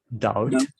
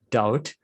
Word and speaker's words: doubt: cane this word it's doubt the b is silent b silence oh you don't pronounce that you pronounce that's doubt doubt second hate i'm